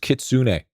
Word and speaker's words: kitsune: And even even still, you don't do your It's pronounced kitsune. Yeah, but I'm not a weeb. We're going to call this kitsune, and you're going to like it.